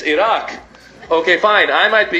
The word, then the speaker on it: Iraq: If you're gonna bum us, I did pronounce it right. It's not Iraq, it's Iraq.